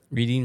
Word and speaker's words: Reading: land it is and everybody mispronounces it m they say it's reading railroad reading railroad it's reading well they should have spelled it better I agree I don't